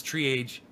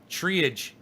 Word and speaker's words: triage: how to say triage he says tree age triage triage and he spells it t-r-i-a-g-e but it's triage i gotta teach him